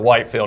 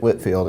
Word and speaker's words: Whitfield: to figure out that you don't pronounce it white field because that's how it is that's how it's spelled so a lot of